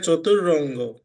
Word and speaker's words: চতুরঙ্গ: High high, এখানে চতুরঙ্গ, তার মানে এটার উচ্চারণ হবে চতুর, চতুর অঙ্গ। হ্যাঁ, রঙ্গ না। হ্যাঁ, চতুরঙ্গ মানে চার অঙ্গ।